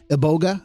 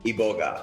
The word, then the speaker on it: iboga: in costa rica actually i probably said that wrong ebolga iboga how do you say that in gabon the indigenous people say iboga iboga right yeah i